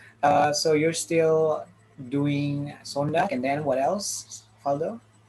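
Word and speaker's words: zondag: know yeah no okay in german it's sontak it's a song in german in in dutch it's sondag yeah it's the same it's almost the same okay good great uh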